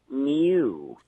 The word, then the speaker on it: new: David, I'm a linguist, and I like your show, but I've noticed you use a liquid U every time you say the word new. You say new.